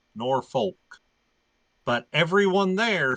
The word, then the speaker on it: Norfolk: that yeah it's not it's not Norfolk it's not they don't they don't they don't really annunciate the L it's norfol norick yeah